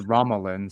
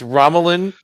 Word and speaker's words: Romulan: please ramlan neutral zone you said ramalin so that's wrong yeah that's wrong they mispronouncing name in the show wrong hosi that's wrong I said it the hosi way it's ramalan neutral zone Pat you know i'